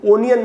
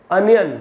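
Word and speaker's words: onion: जैसे प्याज को ओनियन नहीं बोलना चाहिए, अनियन बोलना चाहिए, वैसे ही इसको ओपिनियन नहीं ओपिनियन पढ़ेंगे।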